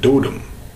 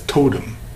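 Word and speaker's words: doodem: was of this clan we call it dotin and often against mispronounced as totem but my totem is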